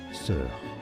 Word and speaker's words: sœur: Sœur.